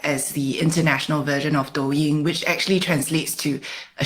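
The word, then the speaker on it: Douyin: China but there is an equivalent called doin did I pronounce that correctly doing yeah doing okay bite dance owns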